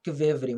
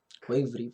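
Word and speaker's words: ქვევრი: não falo georgiano, não, não se fala com V, eles falam uma coisa que parece um misto de U e V, tá? Então eles costumam pronunciar algo como, não kvevri, mas quevri, é uma coisa, uma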